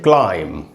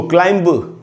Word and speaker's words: climb: यहाँ पर इस बी को नहीं पढ़ा जाएगा, ये साइलेंट होगा क्योंकि ऐसा ही रूल है। तो एंड में भी है और एम के बाद है, इसलिए इसको हम बोलेंगे क्लाइम। इसको क्लाइंब नहीं पढ़ना चाहिए।